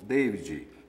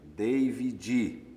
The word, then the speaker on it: David: da sua relação do David, nome inglês, é o nome da poesia. E você diz que se refere ao seu filho. Meu filho tem nome inglês, que se pronuncia assim, David, e não Davi.